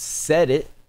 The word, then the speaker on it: Sedit: well done bane is pronounced set it nothing left of me out of stockton california um and it rocks man i'm gonna go 9.1 out of 10.